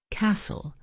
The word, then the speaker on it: castle: Castle silent t honest silent h.